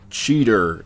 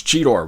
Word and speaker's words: Cheetor: cybertron kingdom deluxe class cheetor or cheater if you're a beast wars novice because that's what the cartoon decided to have him pronounce it as we all know it's cheetor why was it anyway